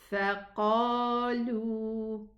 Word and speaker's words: فقالوا: This alif with a circle on top of it, we do not read it. So it's فقالوا.